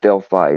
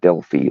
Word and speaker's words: Delphi: the case itself but this Delphi and it's pronounced Delphi not Delphi like a lot of people pronounce it um